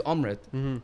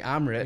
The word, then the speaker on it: Amrit: call me this like my name is Amrit but I'm so used to saying Amber because you know what man